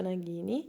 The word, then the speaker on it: Nagini: Io so che si pronuncia Nagini, il serpente di Voldemort, ed Edvige con la lettera di Hogwarts.